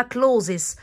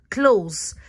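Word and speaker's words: clothes: في ملحوظه قلبوظه كده الناس بتحسب ان عشان حرف الاس ده ان انا هقولها كلوزس غلط الاس سايلنت معنا ومش هتتنطق يبقى اسمها close ملابس close حتى لو جمع اوم برده بتنطق معي كلوز منزل هاوس ديسز والف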